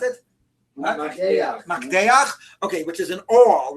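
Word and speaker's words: מקדח: How do you pronounce it? Makdeach, okay, which is an awl, right?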